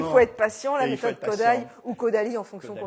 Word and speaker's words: Kodály: Elle a travaillé avec un compositeur hongrois qui s'appelle Kodály dans la prononciation en hongrois, qui a développé une